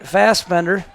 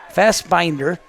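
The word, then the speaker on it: Fassbinder: formidable one and F fast Bender fast binder I should say I was pronouncing that wrong last there's fast binders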